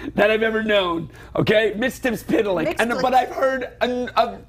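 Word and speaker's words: Mxyzptlk: So- how do you say Mr. Mixoplick? Mitstips is what I was taught in the 1970s by my good Mixoplick, friend Philip Hecht, Mixoplick.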